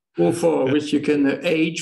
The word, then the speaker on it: Beaufort: try to have her pronounce Beaufort the French way, which is Beaufort. You know, it's also the name of a very good French cheese. right. Beaufort, yeah.